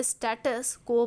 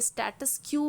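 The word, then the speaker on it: status quo: तो किसी भी चीज के प्रेजेंट कंडीशन को हम स्टेटस को बोलते हैं। लेकिन फिर भी मैं बताती हूँ कि बहुत लोग हमारा जो प्रोनाउंसिएशन है उसे स्टेटस क्यू बोलते हैं।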